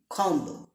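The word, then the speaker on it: comb: বি উজ্য থাকে যেমন সি ও এম বি খম নম ইয়েস খম অর্থাৎ চিরনি যেটা দিয়ে আপনারা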